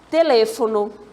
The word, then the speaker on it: teléfono: Temos uma próxima, olha só, a palavra teléfono.